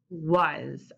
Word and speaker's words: was: Hansen is going to sound it out for you, and then we're going to do it together. W-A-Z, was.